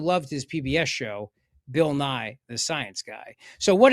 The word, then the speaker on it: Nye: And it rhymes because Nye rhymes with guy.